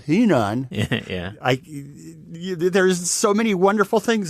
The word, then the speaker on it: Henan: Road, which supposedly stopped in Henan, which is pronounced Henan.